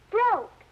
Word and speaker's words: broke: Saying the word helps us remember how the word looks, especially words like broke, which have a silent letter, such as this E.